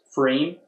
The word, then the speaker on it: pFriem: know that like I looked up how to pronounce frame and I thought you'd like this go on